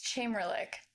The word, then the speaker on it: Chamerlik: It's Chamberlick. So it's pretty much exactly how it looks.